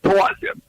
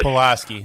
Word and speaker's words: Pulaski: Well, General Pulaski, it's pronounced Pulaski in Polish. Pulaski. Pulaski, as most people say.